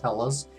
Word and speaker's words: Helles: That'd be pretty strange for Hellas Lager. I've had many of them and they're usually lighter medium body. This is 4.8% alcohol, 25 IBU. Hellas, it's spelled H-E-L-L-E-S. It's pronounced Hellas.